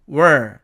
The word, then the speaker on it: where: 발음은 의문사로 사용될 경우에는 where, 관계부사로 사용될 경우에는 where 이렇게 됩니다. 그러나 관계부사 이 where는 H는 탈락되고 N은 발음이 약화된 까닭에 발음이 air에서 어로 바뀌게 되므로 were 이렇게 발음이 됩니다.